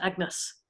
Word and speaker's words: Agnes: her as my daughter Agnes uh which would have been pronounced a bit like the French Any or MS at the time and I was so